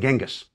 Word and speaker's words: Chinggis: Chinggis, by the way, is the preferred way of pronouncing the great Khan's name by Mongol specialists today. It is a more accurate rendering of his written name than Genghis.